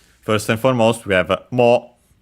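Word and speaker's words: もう: First and foremost, we have mo, which means again. Should be accented on the first syllable.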